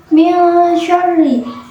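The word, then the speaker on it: مِنْ شَرِّ: Pada ayat kedua ini saya menemukan hukum bacaan ikhfa, yaitu min syarri, disebabkan karena ada nun sukun yang bertemu dengan huruf shin. Cara membacanya, nun sukun dibunyikan dengan samar-samar sambil berdengung.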